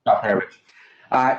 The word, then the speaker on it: Alperovitch: And I apologize if I butchered your name, but I did the best I could. Thank you, Mr. Chairman. It's Alperovitch.